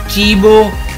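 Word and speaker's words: cibo: Example ये है चीबो, food, और यहाँ पे देखें कि सी के बाद ई आया है तो ये ची, ची की आवाज़ निकालेगा।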